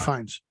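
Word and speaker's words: Fiennes: Liam Neeson yeah in real Phoenix fines you pronounce that fines Ralph finds yeah I don't think they look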